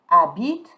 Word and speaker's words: habite: So remember, H is mute and you're not pronouncing the E. Elle habite à Raleigh.